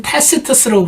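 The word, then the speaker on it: Tacitus: 근데 기록상으로 보면은 로마의 역사가 타키투스, 미국 사람은 타시터스라고 부르는데 아마 로마 발음으로 저게 맞나 봐요.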